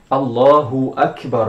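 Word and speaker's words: الله أكبر: sen não está em algumas frases um exemplo allahu akbar allahu vamos escrever aqui allahu akbar aqui é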